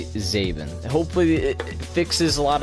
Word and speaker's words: Zabin: I don't say it everybody that says zhabin I say zavin so I put the